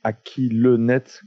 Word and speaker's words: Akilenet: Ça s'écrit Akilenet, comme si tu posais la question de à qui est le net.